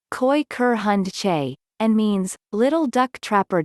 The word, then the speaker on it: Kooikerhondje: quicker hand g as pronounced koi ker hun che and means little duck